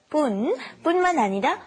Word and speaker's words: 뿐만 아니라: because this 뿐만 아니라, be careful to do the, not 분, but 뿐만 아니라 뭐뭐도, and then how you feel about it.